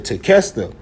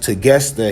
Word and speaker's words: Tequesta: But you also have the Tequesta, but it's pronounced Tegesta here.